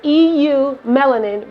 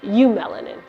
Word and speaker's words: eumelanin: name comes from and it's eu melanin but it's pronounced you melanin would you say that